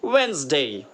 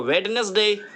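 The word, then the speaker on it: Wednesday: वेंसडे, अब हम पढ़ते थे इसको वेडनेसडे, तो वेडनेसडे में डी जो है साइलेंट है, तो हम पढ़ेंगे वेंसडे, वेंसडे, वेंसडे, okay, वेंसडे, remember.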